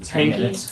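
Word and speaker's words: Henke: Hanky. Yeah. H E N K E. Okay. Are we good? This work. That's good. I'm Jeff Hanky.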